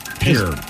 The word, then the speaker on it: Pierre: said Pier or Pierre Pier they apparently it's pronounced Pier but it's spelled Pierre that's what I heard